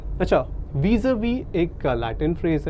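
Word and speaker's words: vis-à-vis: तो इसको हम कह सकते हैं इन रिलेशन टू, और प्रोनाउंसिएशन है वीज़ा-वी, ठीक है।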